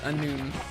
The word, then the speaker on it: Annwfn: So, if I'm reading these correctly, yes, it's pronounced Annwfn. Annwfn.